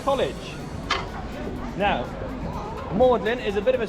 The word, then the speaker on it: Magdalene: on my right hand side here this is mlin college now mlin is a bit of a strange name especially